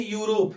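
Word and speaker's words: Europe: ऐसे ही यूरोप है। यूरोप की स्पेलिंग ए से शुरू होती है। लेकिन पढ़ेंगे जब हम तो यूरोप पढ़ेंगे। य का उच्चारण आएगा इसलिए हमें भरना पड़ेगा ए।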